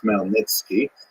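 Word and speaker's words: Khmelnytsky: Niki it's actually pronounced nitzki with a guttural at the beginning this was an extremely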